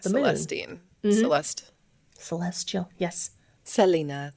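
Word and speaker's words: Selene: Philistine Celeste Celestial yes Selena or Selena if you really want to be pronouncing it correctly I think we've come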